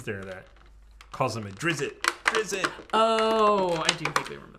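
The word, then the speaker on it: Drizzt: I thought it was I pronounced it drits even though that's not correct oh I was going to say that I don't know if I'm correct no it's like drizz drizz and then drizzit cuz when he comes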